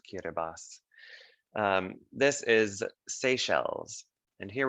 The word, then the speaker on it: Kiribati: week that's looks like it would be called kiribati but it's pronounced kiribati this is seychelles and here we are in